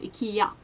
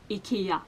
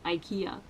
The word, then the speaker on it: IKEA: You should probably also know how IKEA is pronounced in Swedish, and it's pronounced IKEA. IKEA, not IKEA.